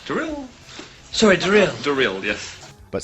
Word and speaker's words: Darryl: Thank you, Daryl. Drill.